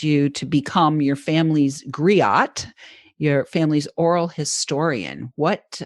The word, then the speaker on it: griot: so we'll ask about that uh it says griot is that the correct pronunciation of that betty great so she is